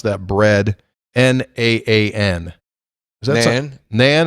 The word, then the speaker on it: naan: How do you pronounce that bread? Naan. Is that Nan? Nan? It's just called Nan.